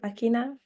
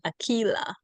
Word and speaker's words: Akilah: And we can go with Akina. I hope I did not mispronounce this. Yes, hi. I was actually getting to that. It's actually Akilah.